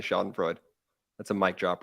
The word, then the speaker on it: schadenfreude: pronunciations all the time it's definitely not schadenfreude it's definitely shot and Freud that's a mic drop